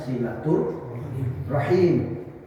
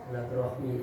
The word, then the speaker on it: silaturahim: terus saya datang ke Pak thiq itu namanya silatur rahim kalau saya tanpa ada itu saya datang itu berkunjung itu namanya kunjungan ziarah namanya kalau dalam bahasa Arab ya tapi sudah kandung silaturahmi bahasa itu sudah kandung diucapkan silaturahabian sudah karena